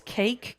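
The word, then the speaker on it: KAKE: If you want to watch the newscast directly, it's cake. K a ke. So basically the word cake but spelled with a K.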